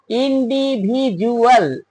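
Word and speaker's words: individual: ইউ একটা vowel এজন্য ডি এর উচ্চারণ ড এর মত হলো না উচ্চারণটা হল জ এর মত ইনডিভি জুয়াল জুয়াল ইনডিভি জুয়াল ভিউয়ারস আগেই বলেছি এই নিয়মটা 100 ভাগ ক্ষেত্রে এডজাস্ট হয় না।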